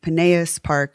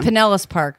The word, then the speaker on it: Pinellas Park: dot-com where she met Alex Stratta Jos in Pinilla sparc Florida some of that's gotta be pronounced wrong but it's cool it's Pinellas Park yeah you know mm I would really be